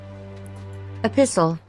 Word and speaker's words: epistle: Epistle. Epistle. Okay, there's no T is silent.